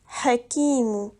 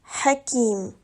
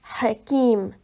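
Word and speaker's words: حكيم: ne le prononce pas ici tu ne dois pas dire Hakim mais seulement Hakim on ne prononce pas le ou à la fin car il y a un arrêt on dit simplement Hakim voici un autre exemple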